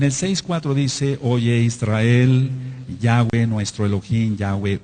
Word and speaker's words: Yahweh: Yahweh, es el tetragramatón. ¿Por qué la va se pronuncia como W? Antes del exilio a Babilonia no sonaba como BAV.